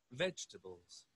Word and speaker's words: vegetables: Vegetables. ¿Ya? Again. Vamos a escuchar de nuevo. Vegetables. Can you see? It's vegetables. Vegetables. ¿Ya? Vegetables. ¿Sí? Marquen la voz en la primera sílaba.